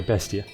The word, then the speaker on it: Bestia: Except the E. It's pronounced more like the end of an A. Ah. A. Bestia? Bestia? Bestia? Is that better? Okay, Bestia.